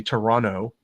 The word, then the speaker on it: Toronto: in Montreal and Toronto would they say Toronto in Canada they don't pronounce the second t for some reason which the RCMP is